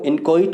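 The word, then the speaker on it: inchoate: Move to next word, इनकॉइट, इसका जो pronunciation होता है वो इनकॉइट होता है।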